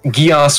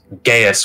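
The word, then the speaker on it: geis: ] it's called yes geass would be how it's most commonly pronounced because the show code geass gaius would be closer to the original irish it sounds like you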